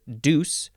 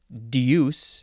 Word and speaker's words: deuce: next handful of words this first one is Deuce or Deuce if you want to get that Y sound in there Deuce d